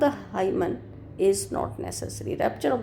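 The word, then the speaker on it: hymen: कहा rapture of द हाइमन इज़ not necessary. Rapture of द हीमन भी कुछ लोग हीमन प्रोनाउंस करते हैं, rapture of द हीमन इज़ not necessary, वो फटना जरूरी नहीं है।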